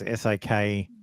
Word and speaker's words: Sequoia: I assume that's how you say it. It's Sakoya.